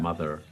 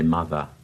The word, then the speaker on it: mother: You hear Americans would say that, mother. Yeah. Not all Americans, of course. Even America has variations, but most British people say mother. The R is not pronounced.